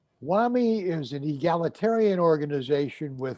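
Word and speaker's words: WAME: pronounce for example there's an organization called the world association of medical editors also known as acronym women easy w-a-m-e whammy whammy is an egalitarian organization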